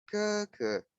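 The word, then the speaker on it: 哥哥: Jadi walaupun tulisannya GG, tapi bacanya ke. Ya, jadi G-nya ini dibaca huruf K.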